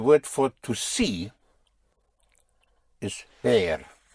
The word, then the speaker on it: ver: The word for to see is bear. Spelled V E R with vision. Bear bear to see. The V in Spanish has the same sound as a B.